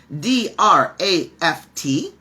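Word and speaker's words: draught: ways to spell draft d-r-a-f-t and d-r-a-u-g-h-t and they're both correct and they're spelled differently but they're pronounced the same way draft just like draft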